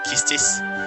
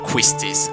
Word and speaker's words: Quistis: here you can see kistis right now no gf is junction i don't know do you say kistis or quistis i think it's justice right the u is not pronounced really is it all of the comments